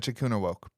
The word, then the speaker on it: Echikunwoke: pronounce it. Echikuna woke.